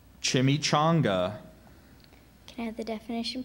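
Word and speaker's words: chimichanga: i n a t e incriminate that's correct chimy chonga can I have the definition please a tortilla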